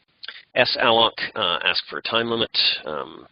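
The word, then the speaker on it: salloc: well F a lock some people pronounce that salad but I think it's best to think of it as slur malik allocate a lock ask for a time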